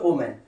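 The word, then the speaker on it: woman: অনেক সময় যেমন যখন সিঙ্গুলার বোঝায়, অর্থাৎ এম এ এন থাকে, তখন এটার উচ্চারণ হচ্ছে ওম্যান, আর যখন ইএন থাকে তখন এটার উচ্চারণ হচ্ছে উইমেন, উইমেন। তাহলে এই দুটো উচ্চারণ যাতে আমাদের মনে থাকে, অর্থাৎ এটা হচ্ছে ওম্যান, এটা হচ্ছে উইমেন।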